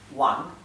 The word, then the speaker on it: Wang: igual la v igual la W se pronuncia como una u bien la W es como una u por ejemplo hay un apellido muy común en China que es wang wang en pinin se escribe con la W y se pronuncia como una u wang wang es uno de